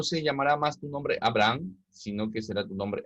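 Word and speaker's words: אברהם: La H en el hebreo se pronuncia como la J nuestra, ¿de acuerdo? Así que cuando encontramos, estaría bien expresado decir Abraham, ¿ya? Porque la H no es muda, en el hebreo tiene un sonido.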